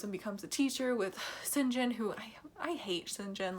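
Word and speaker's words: St. John: out of me also it blows my mind that a name spelled saint john is pronounced sinjin but whatever so she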